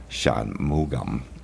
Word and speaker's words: Shanmugam: Shanmugum. It's like Shanmu gum.